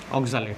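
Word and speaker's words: oxalato: একটা লিখবো, সেটা হচ্ছে অক্সালেট। হ্যাঁ, এই হচ্ছে তার structure, অক্সালেট, C2O4 2- অক্সালেট আয়ন। তাহলে অক্সালেটেরও লাস্টে ATE আছে, তাহলে উচ্চারণ হবে কি, অক্সালেটো।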